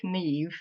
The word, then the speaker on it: Niamh: So I grew up in Germany actually um which was a bit tricky with a name like Neve which obviously is not at all spelled like like you pronounce it.